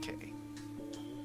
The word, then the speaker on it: quay: It's not pronounced quay. I'm pretty sure it's pronounced K. But maybe not.